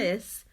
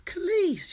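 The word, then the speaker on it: Kelis: Kellis. Jack says Kellis as well. It's Khalees, you weirdo.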